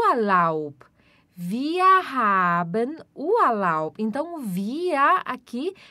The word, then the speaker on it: wir: aqui da frase é via aba o halal via hidden oahu então via aqui quer dizer nossa